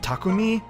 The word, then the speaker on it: Takumi: at exp and I I've apparently been saying his name wrong it's like pronounced takumi but that just reminds me of tacos so I don't know if I want to say that okay I'm kidding um no that actually is how you say but you know okay